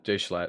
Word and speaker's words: JSchlatt: Yeah, is that how you say his name? JSchlatt? Oh yeah, that's how it is. Yeah, JSchlatt.